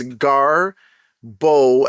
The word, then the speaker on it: Garbodor: It's Garbodor, as in Bohdor. Garbodor. Unbelievable.